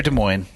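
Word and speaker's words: Des Moines: we're in Iowa near De Moine that's the right way to say it right or is it Des Moes for French yeah Des Moes Des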